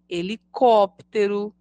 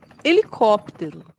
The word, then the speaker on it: helicóptero: a e letra M assim acontece com as palavras herói e helicóptero todas começam com a letra h mas pronunciamos apenas a vogal e no início delas Observe herói pessoa que